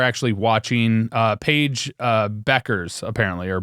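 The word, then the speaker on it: Bueckers: So, people are actually watching, uh, Paige uh, Beckers apparently, or Bukers. Somebody told me it's pronounced Beckers.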